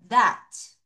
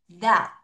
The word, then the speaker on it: that: 자, TH 발음 잊지 마세요. 디귿 발음 갑니다. 갑니다. 자, repeat after me. That. Look at my mouth. That. 크게. That. 한 번 더. That. 그쵸? TH 발음은 입을 크게 벌릴수록 팡팡 잘 터져요.